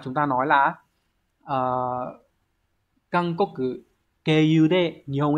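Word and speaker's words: 経由: Từ số 1, từ này đọc là keiyu. Có hai cách đọc nhá, hoặc là trường âm hoặc là không cũng được. Keiyu này. Hoặc là keiyu.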